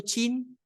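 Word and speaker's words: Qin: final uno de esos el reino chin se escribe con q se dice con con che el reino chin eh tomó para Sí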